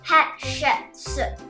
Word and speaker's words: Hatshepsut: Her name is pronounced Hatshepsut.